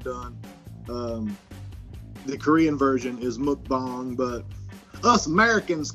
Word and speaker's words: mukbang: that the correct pronunciation moat bong it's a Korean term so I think a